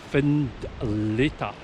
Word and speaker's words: Findlater: come and attack this the name finletta comes from the gaelic foin letter meaning white cliff and it's pronounced find leta the castle is approached